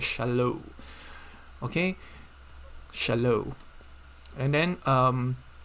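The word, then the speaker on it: שלום: is you you have this o w sound so shallow this is shallow okay shallow and then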